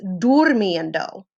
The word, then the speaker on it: durmiendo: This O switches to U only, and then you take off the IR and do IENDO. So this is durmiendo, how it's pronounced.